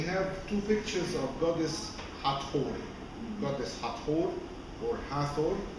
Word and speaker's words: Hathor: two pictures of goddess Hathor. Goddess Hathor, or Hathor, if we pronounce it in English according to how we write the name in the English letters, H-A-T-H-O-U-R. So we pronounced Hathor or Hathor, Het-Her, which means the house of Horus.